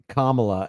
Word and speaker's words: Kamala: Kamala. And you think she'll win? Actually, today you did say it wrong cuz Kamla Harris pronounces her name Kamla.